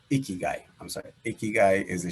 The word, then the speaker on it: ikigai: i i he guy that's what they how they say it icky guy i'm sorry ikigai is